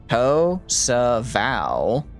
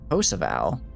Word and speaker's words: Kosovo: Kosovo. Kosovo? Kosovo.